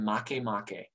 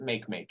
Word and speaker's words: Makemake: okay um their names are eris haumea and makemake okay um if you see its name don't pronounce it make make it's makemake all right um make make it's